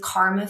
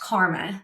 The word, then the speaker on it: KRMA: In this episode, I'm joined with co-founders Rachel Oostman and Crile with KRMA Foods. That's pronounced karma, not KRMA, as you'll hear me learn in real time.